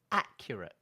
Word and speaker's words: accurate: So the second and third syllables are both weak syllables. But I would say that if I had to say one is weaker than the other, I would say that the second one is the weakest syllable.